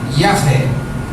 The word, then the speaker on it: Yahvé: O nome de Deus são 4 letras, 4 consoantes que não são pronunciáveis. É quase um sopro, uma respiração, o som de cada uma dessas letras. E as 4 juntas com as letras do nome Jeová dá a pronúncia livre Yahvé.